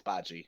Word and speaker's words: Bachi: I believe, but the proper pronunciation is Bachi. So yeah.